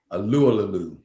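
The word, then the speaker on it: Tyson Alualu: Alulalalu.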